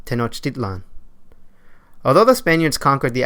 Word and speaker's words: Tenochtitlan: li and now what you place emphasis on the second-to-last syllable for instance the name tenochitlan is actually pronounced Tenochtitlan although the Spaniards conquered